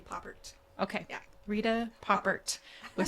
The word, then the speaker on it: Pouppirt: Pouppirt is, but I don't know if that's the correct French pronunciation. I'm sure it's fancier, but we just say Pouppirt.